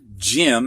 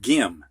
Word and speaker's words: gem: goes with the rule the G comes before an e so it's pronounced like a J chip instead of Jim